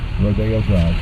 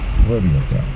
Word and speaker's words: Rodeo Drive: Rodeo Drive. Sometimes mispronounced Rodeo Drive.